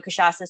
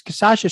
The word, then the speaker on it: Cachaça: And then my secondary goal, Brazilians already kind of know cachaça, so there's a built-in market there and a built-in demand.